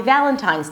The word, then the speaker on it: Valentine's: Okay, so it's not Valentine's, it's Valentine's.